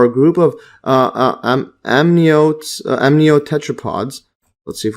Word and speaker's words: amniote: find this over here how to pronounce this so yes this is saved my life saved me a lot of time just doing this amniote yes so this is amniote so diapsid or two